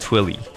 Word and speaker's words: Twili: Earth Twilight pronunciation argument it's actually twilly in a 20 in a in 2010 interview was actually you pronounced twily oh hey dudes okay